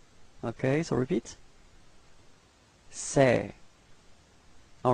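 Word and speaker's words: ces: the plural form it's say all right so it's this uh it's open it's a a okay so don't be afraid to open your mouth and it's pronounced like say okay so repeat say all right so let's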